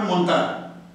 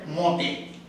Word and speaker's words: montage: তো ইংরেজিতে বানানটা হচ্ছে আসলে এমও এনটি আর ইংরেজি উচ্চারণ অনুযায়ী শুনলে মনে হবে মন্তার। ফরাসি উচ্চারণ এটাকে বলে মতে। মতে ওরা এই চন্দ্রবিন্দু বলছে নাকি শুরু।